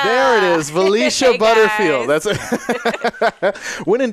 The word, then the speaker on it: Valeisha: the one, the only, I don't want to mispronounce this, I'm so sorry. Valeisha. There it is, Valeisha.